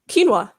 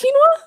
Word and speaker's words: quinoa: not to affect them yeah how did you pronounce quinoa there quinoa ah isn't it quinoa it is quinoa okay you make me question things cause sorry